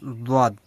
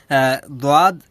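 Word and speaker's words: ضاد: এটা নিয়ে দ্বন্দ্ব আছে অনেকের মাঝে যে এটা দোয়াদ হবে না জোয়াদ হবে, জোয়াদ না দোয়াদ, মানে দ জয়ের মাঝামাঝি একটা উচ্চারণ মূলত আসবে। তো দেখেন অত চিন্তা করার দরকার নেই, আপনি যেটা দর হিসেবে দোয়াদও পড়তে পারেন অথবা দোয়াদও পড়তে পারেন, দ জয়ের মাঝামাঝি পড়লে সবচেয়ে বেটার হয়, তাহলে উভয়ের পক্ষে আমরা থাকতে পারবো।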